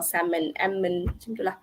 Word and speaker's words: salmon: and Autumn column and Silent L salmon okay so like I